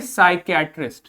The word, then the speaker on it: psychiatrist: इसको क्या पढ़ेंगे, पेसाइकियाट्रिस्ट नहीं, यहां पर इस पी का कोई प्रोनाउंसिएशन नहीं है, इसको कुछ नहीं बोलेंगे, सिंपली बोलोगे साइकियाट्रिस्ट। क्या बोलोगे, साइकियाट्रिस्ट।